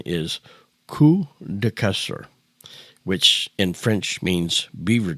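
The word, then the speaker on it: Queues de Castor: But there was a place called, and I'll have to spell it for you, but the pronunciation is Kuster, which in French means beaver tales, and is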